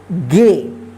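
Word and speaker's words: gay: कर रहे हैं ठीक है जी ए वाई गे एस टी ए वाई एस टे यहां प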